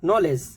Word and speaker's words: knowledge: जानते ही है no need नी knife knock नॉलेज सभी में के साइलेंट है के एन के कॉमिनेशन में के